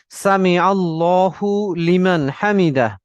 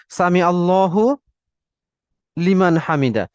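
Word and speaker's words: سمع الله لمن حمده: আমি যদি উচ্চারণ করি, রিপিট উচ্চারণ করব, সামি আল্লাহু লিমান হামিদা, সামি আল্লাহু লিমান হামিদা। অর্থাৎ আল্লাহু এর উচ্চারণ এবং পরবর্তী শব্দ লিমানের লায়ের উচ্চারণ, লামের উচ্চারণ, এটা একটু একটু ডিফারেন্সিয়েট আমরা করব, এখানে একটু সেপারেশন করব।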